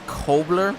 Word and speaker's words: Kobler: bryce you know what i think we've been saying it wrong i think he's one who told me it's kobler so uh bubbler i think